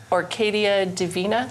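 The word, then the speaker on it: Orquídea Divina: yes, and it is the inheritance of Orcadia Divina.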